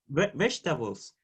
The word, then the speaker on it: vegetable: Vegetables. Vegetable, right? Vegetable. And vegetable is stressed on the vegetable. And the first. On the first, right?